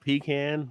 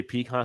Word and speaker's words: pecan: say PE hands really I I say both I've been in different parts I I sometimes I'll say peon sometimes I'll say pean it just depends more than I I'll say peon but if I'm in the South I say pean just to annoy them